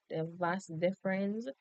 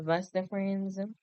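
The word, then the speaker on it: vas deferens: So basically the vas the vas difference I always produce it we always pronounce it that way but the vas deference so basically it's a muscular cube that carries sperm from the epidermis.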